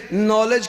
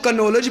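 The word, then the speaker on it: knowledge: لفظ صحیح نہ نکلا، کوئی اگر غلطی سے نالج کو کنالج پڑھ دے، کیونکہ کے کی آواز ساکن ہے، اگر کوئی کنالج پڑھ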